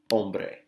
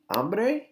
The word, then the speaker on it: hombre: pronounced that I'm buddy hombre hombre hombre okay this is also not hambre okay be careful that H is silent in Spanish so we say hambre